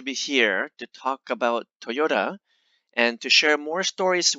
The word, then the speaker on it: Toyota: toyota properly in japanese in japanese it's actually toyota let me repeat again it's toyota so it's not toyota or toyota or i don't know so many different pronunciations out there about this but it's toyota anyway i will kind